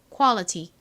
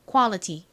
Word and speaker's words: quality: 소리 나는 Al이 와서 쿠 소리와 어 소리가 빠르게 연결되니까 코 코 쿼 쿼